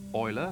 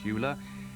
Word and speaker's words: Euler: drop the name Lenhart Euler first because you'll pronounce it correctly it's Euler not Euler and second because he's the great unsung hero